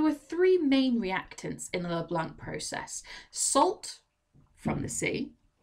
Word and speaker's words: Leblanc: delivered nicola leblanc nicolas leblanc leblanc if you want to just pronounce it born in english and he was a